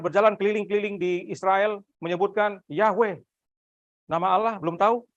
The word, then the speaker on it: Yahweh: Yesus bukan berjalan keliling-keliling di Israel menyebutkan Yahweh. Nama Allah belum tahu? Yahweh.